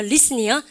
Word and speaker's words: listen: 이거 발음할 때 listen이에요. listen이요. listen. 그러니까 우리 반 공부하실 때 T 발음이 발음되지 않는군요.